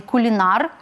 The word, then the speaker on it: кулінар: і в прикметнику наприклад У нас є Кулінар ніхто не замислюється правда як наголошувати от тому Залишаємо кулінарію Кулінар кулінарія агроном агрономія підліток- підлітковий пекар-